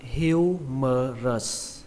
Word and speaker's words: humerus: Từ vựng này các bạn đọc là humerus. Trọng âm của từ này rơi vào âm đầu tiên, âm hiu. Âm hưu trong từ điều hưu trong tiếng Việt, bạn lấy âm hưu đó ra.